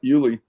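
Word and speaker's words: Yulee: the pride of uh I think it's pronounced Uli, Florida. Yep, Julie. That's right.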